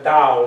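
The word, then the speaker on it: Tao: The yin and the yang, which is expressed by the dao, it's spelled with a t, but it's pronounced the dao.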